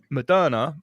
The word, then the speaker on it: Moderna: And we know who we're investors in Moderna, won't we? Don't we? Mr. Sunak. or another way of pronouncing it is mode RNA.